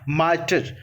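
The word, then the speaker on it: martyr: तो option number यहाँ पर बी सही हो जाएगा, मार्टर। यहाँ पर जो पहला आ रही है साइलेंट होगा।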